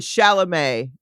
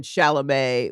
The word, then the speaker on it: Chalamet: And then Chalamet with French, with French, you don't say like that last consonant usually. Rock on. So, yeah. So I say Timothée Chalamet.